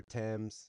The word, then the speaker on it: Thames: name is River temps I Googled how to pronounce the horse's name and this is how the race caller says it so it's River TS um caught me a little off guard but anyways that's how I'm going to pronounce it throughout this video rivert sire or father